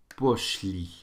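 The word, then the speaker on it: пошли: So muy poszli. So muy poszli. Okay, li is where the stress is on that one.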